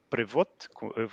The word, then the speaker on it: Privot: LinkedIn so it's uh privot with a a a t with no sound at the end and in my email